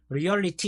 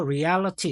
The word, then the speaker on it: reality: 이거를 리얼리티 이렇게 읽지 않아요. 그 여기에 똑같이 리얼이라는 단어가 들어 있어도 철자가 바뀌면은 발음도 와장창 전체적으로 다 변하는 단어들이 많아요. 그것까지 신경 쓰고 앞으로 공부하셔야 되고 얘는 참고로 리얼리ity 아니고 reality 이렇게 있습니다.